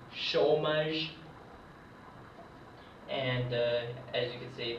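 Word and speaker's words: chômage: this this is pronounced shomage and as you can see the e is not pronounced but keep in mind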